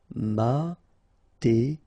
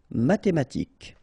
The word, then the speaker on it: mathématique: Mathématique, remember, H doesn't exist, so mathématique, remember, Q-U-E at the end, K, mathématique.